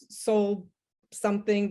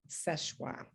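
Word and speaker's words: Seul Choix: story of szechua and people call it soul something but it's actually french and it's spelled it's pronounced szechua there was some lighthouse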